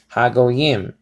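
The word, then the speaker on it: הגויים: So is ha go yim. Okay, ha or ha go yim. Okay, ha go yim. Ha go says over here, and it says transliterated to I am. Ha go yim.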